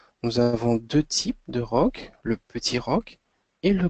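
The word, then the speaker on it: roque: Donc, le rock, ça s'écrit donc R-O-Q-U-E. Nous avons deux types de rock, le petit rock et le grand rock.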